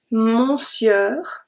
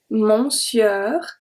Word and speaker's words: monsieur: going to be so here you read monsieur monsieur it's actually pronounced mushy mushy french is such a